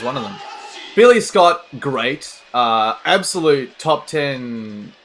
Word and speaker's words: GLEAT: I believe it's actually pronounced great, but because it's Japan and because it's Lidet, it's GLEAT. And, you know, it's just weird, but I'm just going to keep calling it GLEAT all day, every day.